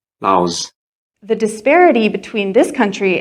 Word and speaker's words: Laos: Now let's travel to Southeast Asia and talk about Laos. Yeah, don't say Laos or Lao. Please say Laos.